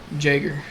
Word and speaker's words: Jäger: Jager. So you pronounce the J?